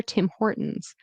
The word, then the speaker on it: Tim Hortons: Tim Hortons.